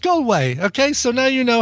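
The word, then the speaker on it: Galway: look at that and correct pronunciation of gway done even though this is Herold scotland. comom so it's a Scottish uh thing but you don't want the 30 second recording from Claire where she's like it's pronounced gway goway goway yeah so it's it's pronounced goway okay so now you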